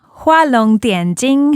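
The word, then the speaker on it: 画龙点睛: It's Hua Long Dian Jing is how you say it in Chinese.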